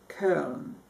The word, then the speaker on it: Köln: Okay, with that knowledge, I went on my trip, and one of the places that I went was Cologne, Germany, Köln.